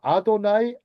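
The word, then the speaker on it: אֲדֹנָי: 자, 아도나이. 여호와. 아도나이. 아도네이노. 원래는 야회라고 발음을 안 합니다. 유대인들은 하나님의 이름을 어 망령대히 부르면 안 된다고 해서 아도나이 주님이에요.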